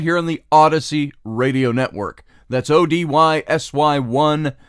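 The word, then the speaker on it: Odysy: here says welcome to Odyssey OD ysy we pronounce it Odyssey just like ODU is sui and it's your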